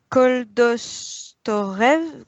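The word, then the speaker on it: Koldovstoretz: Alors c'est Koldovstorets, la prononciation.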